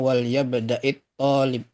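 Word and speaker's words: وَلْيَبْدَأِ الطَّالِبُ: ketemu sukun-sukun berarti bacanya wal yabda'it thalib.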